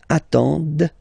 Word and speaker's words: attendent: And the last one, same thing, classic ending for il, elle at the plural form, ent, but then you don't pronounce them. Ils attendent, de, okay, so remember you get to pronounce this, d at the end, okay.